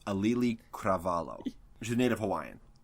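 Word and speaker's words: Auli'i Cravalho: are white bread asses know how to protect pronounce her name its alley kravaal oh there's a native Hawaiian yes she's native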